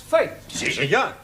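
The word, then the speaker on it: fete: the rule for example f e t e is also pronounced fate one right foet one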